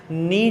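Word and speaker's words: knee: नी जो होता है, नी कहते हैं घुटने को, नी किसे कहते हैं बेटा, के इसमें साइलेंट होता है, ये इसे कहते हैं घुटने को।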